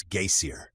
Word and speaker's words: geysir: The geyser, a word the Icelanders pronounce geysir, and which signifies fury, rose majestically from its summit.